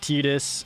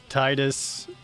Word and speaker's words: Tidus: All right, so between talking about Tidus's name, I do a whole live action bit about how his name is Tidus and not Titus, and that sounds stupid.